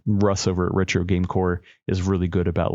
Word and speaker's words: Corps: PHAWX, and then also Retro Game Core, CORPS. Those guys are like my first two stops anytime a handheld gets released.